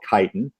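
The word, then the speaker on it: chitin: in the cell walls called kiten people who haven't heard of kiten it's it's spelled Chi t i n and kiten actually is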